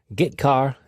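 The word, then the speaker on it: getchar: i o functions are git car and put car that's how i pronounce them git car fetches a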